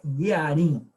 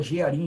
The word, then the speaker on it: Jearim: A pronúncia, na realidade, semita é Yearim. Yearim. Mas a gente fala Jearim aqui em português, né?